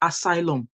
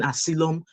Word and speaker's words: asylum: been calling this Asylum it is not Asylum it is Asylum I watched a couple of videos and they're saying asum asum like how the hell do you pronounce a y y l u m as Asylum is Asylum guys if you don't know how to pronounce just put it into Google and Google will tell you how to pronounce it it's not asum all right and then